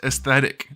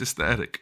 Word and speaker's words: aesthetic: my comment sections that it is pronounced aesthetic with a TH. I know, if you say the word fast though, it sounds like a T, sort of. It's aesthetic with an H.